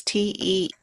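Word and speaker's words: Teeccino: And how do you spell it? Ticino. It's Teechino.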